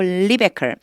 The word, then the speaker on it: Rebekah: 리베카라고 읽으면 돼요. 리베카. 다시요. Bethuel became the father of Rebekah.